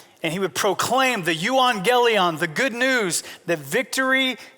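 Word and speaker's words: εὐαγγέλιον: In the Greek, it's pronounced euangelion.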